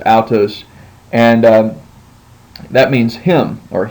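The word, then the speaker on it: αὐτός: And then you have the Greek word altos, which I always pronounce it as aw, like altos. But we'll just go ahead and do it as the book says, altos, and that means him or he.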